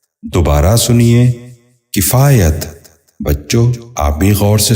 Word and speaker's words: کفایت: لفظ ہے کفایت۔ یہ غلط تلفظ ہے، درست تلفظ ہے کفایت۔ دوبارہ سنیے، کفایت۔ بچوں آپ بھی غور سے سنیے، کفایت۔ 11واں لفظ ہے کفر۔ یہ غلط تلفظ ہے،